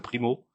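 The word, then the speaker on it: Pimo: En ce moment, ils s'occupent de la promotion de l'un des rappeurs du groupe qui s'appelle Primo P I M O. Voilà comme ça se prononce.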